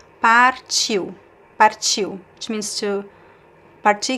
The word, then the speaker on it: partiu: I say the R, you can pronounce here, par, or par, but it's sometimes very subtle, so sometimes you don't hear the R sound.